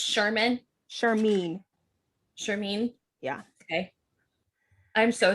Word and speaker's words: Shimin: That like how did I Shimin, I think is how Shimin, I think was how I was pronouncing it. Yeah, me too. I was pronouncing like Jimin from BTS. Yes. It's not. It's Shermeen.